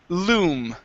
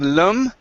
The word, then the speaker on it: loom: to this word here the word is loom instead of lum loom there you go good